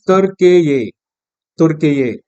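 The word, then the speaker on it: Türkiye: और इसका जो प्रोनाउंसिएशन है इट इज तुर्के ये।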